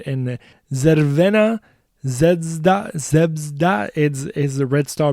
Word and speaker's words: Crvena Zvezda: FK Crvena Zvezda. I I wanted to say it the way that it was originally pronounced.